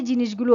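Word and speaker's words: Janus: হবে কি জানস বা জানস বা জানুস এটার সঠিক উচ্চারণ হচ্ছে জানস জানস জানস একবারে যদি উচ্চারণ করেন জানস জে এ এন ইউ এস জানস সঠিক উচ্চারণ করার চেষ্টা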